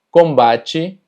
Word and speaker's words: combate: Y es que cuando las palabras terminan en TE, normalmente TE se pronuncia como chi. Por poner algunos ejemplos, limite, combate, chocolate, dente.